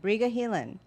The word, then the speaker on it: Briga Heelan: Briga Heelan.